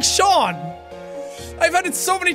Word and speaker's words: Sean: And they're like, okay, thank you, Seen. I'm like, fuck's sake. No, it's Sean, damn it! The name's.